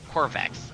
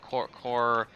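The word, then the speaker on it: Kovarex: It's supposed to be Corvarax. Covarax. Something like that, Covarax, yeah. not Corvex.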